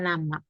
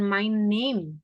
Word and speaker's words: Name: Bacanya my nama ya, bukan my name.